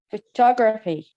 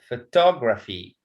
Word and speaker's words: photography: in the word is with the suffix c y t y p h y g y e l stress falls on the second syllable preceding them okay like okay who can read photography yes photography so the stress in talk